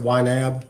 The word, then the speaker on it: YNAB: out is you need a budget uh and pronounce it ynab you might turn it around yeah yeah the